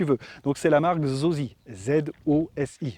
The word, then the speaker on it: Zosi: Donc c'est la marque Zosi, Z-O-S-I. Je prononce à la française, excuse-moi, peut-être en chinois c'est plus joli, plus poétique, mais moi c'est Zosi.